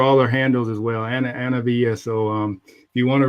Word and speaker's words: Anna-Vija: And pronounce. I know Anna-Vija is long and hard. Yeah. My name is Anna-Vija.